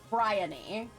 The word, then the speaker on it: Bryony: by uh Bry bryony bryony is that right so it's like the Oni is pronounced like Pony uh Bry bryony okay